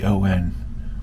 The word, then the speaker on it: Farjeon: And then an English poet by the name of Eleanor Farjeon, let me get her pronunciation. Farjeon, which is pronounced Farjeon.